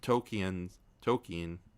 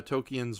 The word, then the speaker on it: Tolkien: I love about Tolkien's, I keep saying his name wrong. Tolkien.